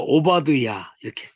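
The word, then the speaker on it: עֹבַדְיָה: 그 다음에 요거 끝에 발음 안 하죠. 그러니까 오바드야 이렇게 자기가 요거 보고 읽을 수 있어야 됩니다.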